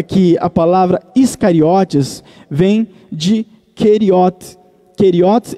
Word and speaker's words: Iscariotes: Até porque a palavra Keriote, em hebraico, quando foi helenizada, e nós já entendemos sobre a helenização, quando foi helenizada e passou para o grego, a pronúncia se tornou Iscariote.